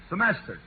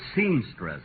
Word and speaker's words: semester: word again will you semester say it once more semester you know Folks at rehearsal he kept pronouncing it seamstress imagine seamstress an actual mistake for a chap who